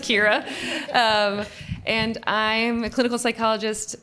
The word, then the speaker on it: Ciara: It's pronounced Kira.